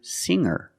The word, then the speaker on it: singer: When I change these words with ER, I don't pronounce the G sound. It's just the nasal linked together with the Together, hanger, hanger. There's no G sound. I cannot say hanger. I cannot say singer.